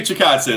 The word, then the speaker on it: Chikadze: Yourself and Nolan King of MMA Junkie report Irwin Rivera stepping in against Giga Chikadze. Am I pronouncing his last name right? I'm not. Giga Chikadze. There you go. Well done.